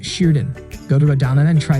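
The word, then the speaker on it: şırdan: a stuffed sheep gallbladder its name is pronounced Sheridan go to radonna and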